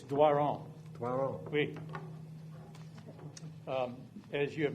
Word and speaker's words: Doiron: How do you pronounce it? How do I say it? It's Doiron.